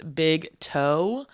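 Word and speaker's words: Big Teaux: For the last year, but you can follow me at It's Big Toe. The toe is spelled Teaux because that's a Louisiana thing from LSU.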